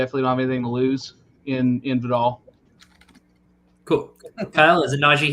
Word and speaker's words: Vidal: I think Vidal, how do you say his name? Kamani Vidal. Vidal. Oh, I was wrong on both of my guesses. Vidal.